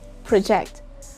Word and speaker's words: project: a verb it's project project again you put this stress on the first syllable if that is a noun project and you put the stress on the second syllable if that is a verb project project if a